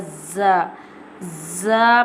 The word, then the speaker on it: ز: How we'll pronounce the Z. Z pronounced from the tip of the tongue touching the inner edge of the top two and bottom two front teeth like this.